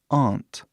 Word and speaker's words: aunt: Então, muitos dialetos do inglês falam aunt, que é bem diferente, né? Aunt, que é tipo O, T, né? Esse T forte do inglês.